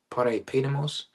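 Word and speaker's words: παρεπίδημος: If I'm mistaken, that's how you pronounce it, parepidemos, something like that.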